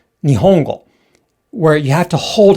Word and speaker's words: 日本語: So our internal metronome, it's going like ni, hon, go, because we're thinking about the vowels. We distinguish the syllables by the vowels, not the consonants. However, in Japanese, the Japanese internal metronome, it goes like this. Ni, ho, n, go. So there are 4 beats in this word.